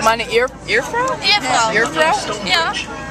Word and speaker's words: Ehefrau: Meine Ehefrau. Meine Ehefrau? Ehefrau. Ehefrau? Yeah. How do you spell it?